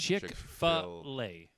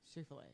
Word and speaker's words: Chick-fil-A: It's Chick-fil-A. Chick-fil-A. That's how it's pronounced.